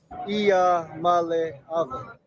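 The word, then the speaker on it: Iamaleava: I think, Billy Bob, are you correcting me on how to pronounce Ia Amuleva's name? Because this is straight from his mouth. Ia Male Ava.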